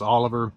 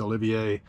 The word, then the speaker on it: Olivier: why I was thinking his name was Oliver it's Olivier and I suppose that